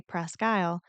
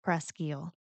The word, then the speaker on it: Presque Isle: And if you're not from the area, most people say Prescy, but locals will tell you it's actually pronounced Prescal.